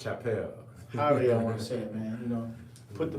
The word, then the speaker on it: Chappelle: some questions they're just messing with your own pronunciation about chappelle it's chapelle man you know put the money up and